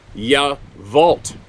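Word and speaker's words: Yacolt: and I went to yavolt okay here's another one not gonna sound like that that that uh crotchety old guy it's spelled y-a-c-o-l-t but it's pronounced ya vault well why don't they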